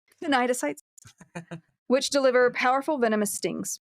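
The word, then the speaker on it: cnidocytes: pretty sure it's right nites because you don't pronounce the C Nyes which deliver powerful venomous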